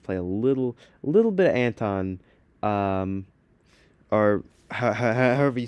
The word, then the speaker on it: Anton: Anton, that's it.